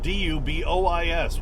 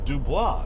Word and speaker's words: Dubois: the south in Wyoming we have d-u-b-o-i-s which should be Dubois because that's a French pronunciation no it's Dubois Dubois Wyoming and there's a DuBois